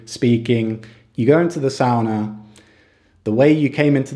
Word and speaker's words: sauna: sure most of you have heard of a sauna which is actually pronounced sauna just so you know but here in finland